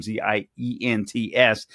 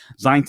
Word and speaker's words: Zients: Chief of Staff Jeff Zients, I believe is how you pronounce his name, Zients. Zients is among the top Biden administration aides, according to the Washington Times.